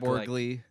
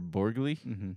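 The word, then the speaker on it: Borgli: Um, Robert Patson and and Zenaia movie by Christopher Borgley. That's how you say it. Yeah. Sound like a noodle. Last name sounded like a noodle.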